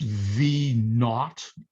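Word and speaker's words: v₀: zero it's also pronounced v naught n a u g h t or it's v sub zero okay it's pronounced v naught because we got a lot of our original mathematics from the british and they instead of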